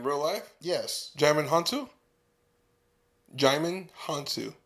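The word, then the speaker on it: Djimon Hounsou: Jaimin Hansu. Oh, the D is silent?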